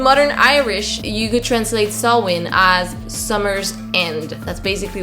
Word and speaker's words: Samhain: in scotland it is i'm just going to pronounce it the same sawwin but it's spelt like this and on the isle